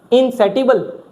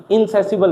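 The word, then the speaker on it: insatiable: इनसेटिबल। सेटिबल पढ़ रहे हो ना? इनसेटिबल नहीं होता, टी साइलेंट होता है, टी की जगह सौ पढ़ा जाता है। इनसेसिबल होता है।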